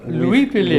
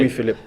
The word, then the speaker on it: Louis-Philippe: Et vous prononce, vous dites Louis-Philippe ou vous Exactement. Louis-Philippe. Louis-Philippe, oui.